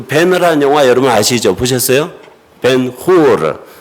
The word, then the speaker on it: 벤허: 벤후르. 히브리어로 발음하면 벤허.